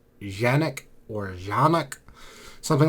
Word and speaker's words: Canik: because I understand that country of origin, it's pronounced Canik or Canik, something like that.